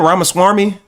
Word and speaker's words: Ramaswamy: Ramaswami.